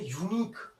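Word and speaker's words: unique: मैंने बोल दिया यूनिक, यूनिक यूनिक यूनिक जो हो रहा है यू से स्टार्ट हो रहा है, यू से स्टार्ट हो रहा है, तो यू में जो कॉन्सोनेंट साउंड होते हैं, एक्चुअली मैं आपको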